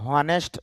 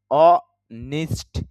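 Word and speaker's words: honest: এটা যদিও আমরা অনেস্ট বলি, আবার কেউ কেউ আছে হনেস্ট বলে। হনেস্ট হনেস্ট তো হবেই না, এখানে এই যে সাউন্ডটা এটা চলে যাবে, তাহলে অনেস্ট। আর অনেস্ট এটাও শুদ্ধ না, শুদ্ধ হবে অনিষ্ট। নিষ্ট হ্রস্ব ইকারের মতো, নিষ্ট।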